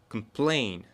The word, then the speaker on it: complain: Complain. На plain ударение. Complain.